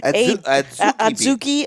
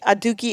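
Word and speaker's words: adzuki: the adieu ki bean a Sookie a Dukey ever to pronounce both ways not was trying to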